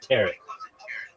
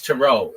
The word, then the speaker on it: tarot: But this one I'm sure of it's tarot. It's not ter. Nobody calls it terret cards.